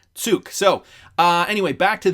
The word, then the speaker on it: Zug: course i was incorrect he lives in uh tsug which is how it's pronounced not zug or zoug uh it's spelt z-u-g but he lives in switzerland and i just wanted to clarify that it is pronounced tsuk so uh anyway back to this stephan also